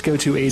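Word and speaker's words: Goto80: who goes by the name of goto or goto 80 I'm mispronouncing it who the heck knows but it's spelled goto 80 oh yeah it's goto 80 sounds like a basic yeah it's a it's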